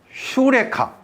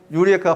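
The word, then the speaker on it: εὕρηκα: 단어가 이제 헬로로 휴리스코 휴레카 유레카 들어봤죠 유레카 발음이 휴레카라 했잖아 효리가 찾았다 여호와께서 주셨다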